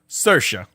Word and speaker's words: Saoirse: Sarah's. How do you say it? Saoirse.